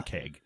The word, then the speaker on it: ankheg: Let me listen to what D&D Beyond says it's pronounced like. They have the little button. Ankheg. Ankheg, says the fine British narrator.